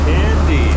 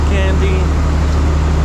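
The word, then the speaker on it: Kandy: here we are May candy for the longest time I'm like how do you pronounce the city is it really candy maybe candy but seems like the local state like that so let's go what was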